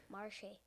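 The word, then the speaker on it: Metchie: But I'm going to do John Matchy this week against the Ravens. Okay. Marshy.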